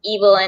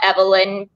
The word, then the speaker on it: Evelyn: and it's i mean i'm assuming it's pronounced evil and not evelyn because uh she's a very